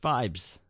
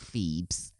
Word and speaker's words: Phibes: film The Abominable Dr fibes and it is pronounced Vibes yeah what did you think it was fee is the place feebs feebies fees phobus fibes anyway brilliant film there's